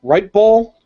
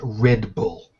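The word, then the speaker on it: Writebol: according to Brantley uh right ball is that how you pronounce it ripe bull no it's pronounced Red Bull w-r-i-t-e-b-o-l is the last name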